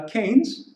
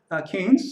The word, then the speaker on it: Keynes: a Keynesian thinking and that's pronounced uh Keynes after the British economist John Maynard Kane so it's not Keynes but Keynes so we have Keynesian